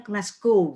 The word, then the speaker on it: Glasgow: Mas Bobi ini sekarang sedang menempuh pendidikan S2 di University of Glasgow. Tadi saya tanya bacanya gimana sih? Katanya orang sana tuh kedengerannya sepertinya ngomongnya Glasgow gitu ya.